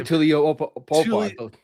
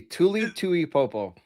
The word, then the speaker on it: Tuli Tuipulotu: Tuli Tuli Tuipulotu. I listen, It's Tuli. Tuli. Tuli Tuipulotu.